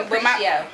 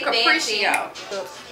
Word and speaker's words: Capriccio: Okay, this is how you pronounce this. I wanted to do it when they first started doing this drink. Capriccio. Capriccio.